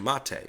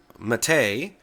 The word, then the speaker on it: MATE: give it a try the spelling of mate or mate is m a which looks like mate as in roommate or Checkmate but the actual name of the desktop comes from a South American flower the folks who started